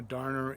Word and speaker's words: darner: Now, darner is spelled Darner, kind of like you would darn socks.